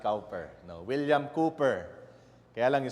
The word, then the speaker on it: Cowper: Actually it's pronounced Cooper not Cooper no William Cooper. Kaya langung spelling is C o W P E R but you have to pronounce it as Cooper.